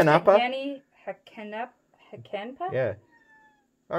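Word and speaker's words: Jani Hakanpää: I pronounce it Yanni Hakenpa.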